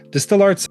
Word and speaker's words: DSTL Arts: Distill Arts, as it's actually pronounced, is a nonprofit arts mentorship organization that inspires, teaches, and hires emerging artists from underserved communities.